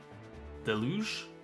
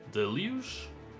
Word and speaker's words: Deluge: English delu de lu stress on the first syllable a wonderful smooth and sultry French voice there deluge sounds wonderful it apparently means a lot of something most notably rain or water.